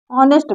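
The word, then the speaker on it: honest: है क्यों लगा है क्योंकि ऑनेस्ट में यह साइलेंट होता है इसको ऑनेस्ट पढ़ते हैं ऑनेस्ट ठीक है साउंड से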